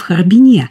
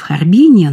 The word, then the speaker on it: Харбин: в Швейцарию через Харбин, как произносили в Харбине. Вот это ударение для меня очень важно, когда говорят, многие произносят в Харбине, но...